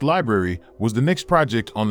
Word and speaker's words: LBRY: LBRY, pronounced library, was the next project on the chopping block.